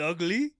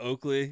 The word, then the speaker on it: Oakley: He's like, "Ugly? Ugly?" That's what he called me. It was Ugly. That's how he pronounced my last name. Instead of Oakley, it was UGLY, Ugly.